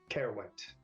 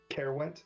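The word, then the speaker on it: Caerwent: coast of Britain um uh known as uh carowind spell that Byron uh carewent c-a-e-r-w-e-n-t got it she says if you could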